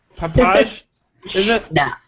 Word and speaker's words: Pepaj: We have Babette, and please tell me if I pronounce this wrong. Pepaj, is it? No, it's close. It's Pepaj. Pepaj, okay.